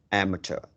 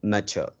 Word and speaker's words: amateur: of English e r though it is pronounced like words that end u r e amateur remind yourself that M uh a m a t e r not need not to be mature mature okay am matur